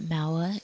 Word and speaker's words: Maua: Just want to say I'm getting a lot of confirmations in chat that Maua is the right way to pronounce it.